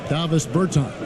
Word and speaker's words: Davis Bertans: Oh, well now, at this point in my life, it's Davis Bertans. Is that how you say his name? Yeah. Davis Bertans. Davis Bertans? Yeah, yes.